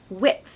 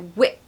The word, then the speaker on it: width: favorite number five whip whip so the D is silent we're not saying Whit